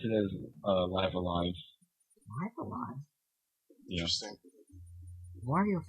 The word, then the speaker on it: Live A Live: I think Live A Live is the is the correct pronunciation though.